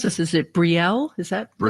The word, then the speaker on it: Brielle: We have Paul from, I don't know how to pronounce this. Is it Brielle? Is that the name of the town? Okay, Brielle.